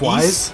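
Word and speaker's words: Ys: It's like Wise? East? It's East.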